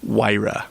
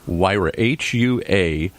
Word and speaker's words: Huayra: Huayra. Huayra, Huayra by Pagani.